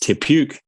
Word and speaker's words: Te Puke: crush stone age mate pookie pronounced te puke for those that aren't in the dough um shut up it's maori it translates to hill